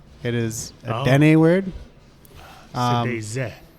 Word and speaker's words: Sëdézë: Sëdézë. Sëdézë is with tongue, how you would pronounce it actually.